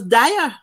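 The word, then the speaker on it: Diah: And the man name was Dyer. I mean, nice. We said, good. But him spell it D-I-A-H, meaning you ask him, where you, Glenn, where you there?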